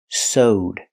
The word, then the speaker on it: sewed: The action so in the past is sowed. That's right. It's pronounced with a long o. Soed plus the d sound connected together. sowed.